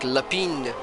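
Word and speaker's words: L'Épingle: I'd say it's a Lepingo? Almost, it's Leping. Oh, so then you don't pronounce the L at the end? Yeah, it sort of turns into like a Y, so it's like Lapine.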